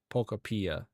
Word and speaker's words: Pokopia: I think actually they said it is pronounced Pokopia.